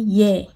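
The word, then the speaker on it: ㅖ: Ito yung Ye na parang yes, ganon siya guys. Pero wala siyang S ha. Ye. Diba sa yes, may Y at saka E. Ganon yung kanyang pagka-pronounce. Wala lang siyang S. Ye yung kanyang sound. Ayan.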